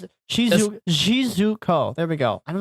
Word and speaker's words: Shizuko: I mean, yeah, and it also plays Shizuku, or it also plays Shizuku. Wow, I can't pronounce it. Shizuko.